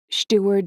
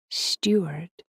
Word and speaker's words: Steuart: Melis Steward Shien, I said, fumbling over the pronunciation, my eyes glued to her face. "Oh," she said, and raised one shaking hand to her lips. "Steuart," she pronounced it Steuart.